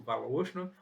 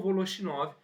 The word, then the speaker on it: Voloshinov: Não se preocupe com a pronúncia, pode ser uma pronúncia mais próxima ao russo, Voloshinov, ou Voloshinov, mais próximo ao português.